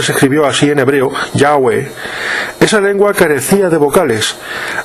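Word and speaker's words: Yahvé: dios de la biblia la forma jehová es una errónea e incorrecta y falsa pronunciación del nombre del dios de israel que es yagüe seguidamente alistamos una relación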